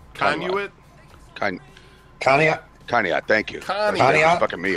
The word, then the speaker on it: Conneaut: How do you say, what is this, Canuet? Or how do you say that city's name? Conduit. Conduit? Conneaut? Conneaut, thank you.